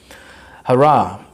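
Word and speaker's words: Hurrah: हरा, what a scintillating beauty the landscape is. हरा है इसका प्रोनाउंसिएशन, आप हुरा भी कह सकते हैं।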